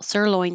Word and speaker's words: sirloin: So sirloin the stress is on the first syllable sirloin state.